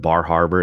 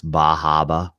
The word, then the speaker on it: Bar Harbor: They say don't pronounce the R's up there, so it's instead of Bar Harbor, it's Bahaba.